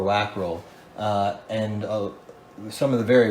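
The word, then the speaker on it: Wackerle: His name was Joseph Wackrell. I know I'm saying it wrong in German. Vackrell or Wackrell, and some of the very rarest models that were made of hers are Wackrell molds.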